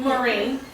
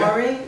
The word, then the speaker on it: Maureen: Maureen.